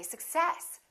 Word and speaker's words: success: be difficult to understand so in this case we stress the second part and we say success i wish you success